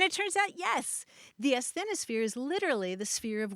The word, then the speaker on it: asthenosphere: the word that really stopped me short was asthenosphere that's a s t h n o sphere